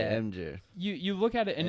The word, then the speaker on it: Imgur: Is it Imgur? Yeah, I think so. Imgur? I don't Okay. know. Hotmail. Do you guys call it Imgur or some people say Imgur Imager. or Imager? How do you guys pronounce that?